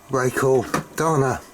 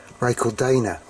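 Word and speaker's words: Racal-Dana: which is the older ray called Donna I call it ray called Donna I think he really should be pronounced ray called Dana but I I like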